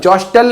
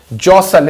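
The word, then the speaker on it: jostle: थे जसल for space जसल जॉस्टल नहीं जसल इसका उच्चारण क्या आता है जसल लोग एक दूसरे को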